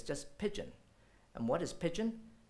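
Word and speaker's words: pidgin: pigeon English it's just pigeon and what is pigeon pigeon is what we consider a corrupt form of pronunciation of the word business so when they spoke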